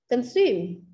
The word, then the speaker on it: consume: Nhấn âm tiết nào ạ? Nhấn âm tiết số 2. Consume. Consume. Ta không đọc là consume ha. Consume. Tại vì nó là động từ. Hầu hết các động từ nhấn âm số số 2.